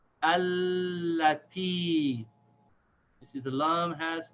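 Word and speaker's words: التي: So we say alla, and then this ta has kasra and ya, so it's ti. Allati.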